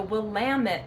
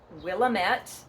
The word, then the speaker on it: Willamette: Well, what we're talking about is the valley is the Willamette Valley. Yes, not Willamette or Willamette. Those are not right.